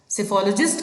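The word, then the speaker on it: psephology: सिफ़ोलॉजी में देखिए प्रोनंसिएशन में भी साइलेंट है। यस। सो सिफोलॉजी इज़ the study of election trends. सिफोलॉजिस्ट कहते हैं उस पर्सन को।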